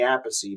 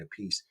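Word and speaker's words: Appice: it Carmine a piece Carmine Vinnie is Vinnie aacy but I think Carmine is Carmine a piece even though they're they're Brothers they pronounce their last names different Buddy Rich Tony iomi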